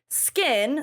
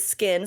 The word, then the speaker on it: SKKN: Beauty Cosmetics has used the brand name Skin, spelled SKKN, so the same way that Kim's does, plus since 2018. Now we obviously know that Kim's brand is Skin, spelled the same way, and Skin by Kim.